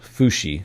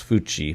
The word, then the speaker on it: Fui: We know them as the Fui, pronounced Fushi. Sorry, I thought it was Fui, but it's Fushi.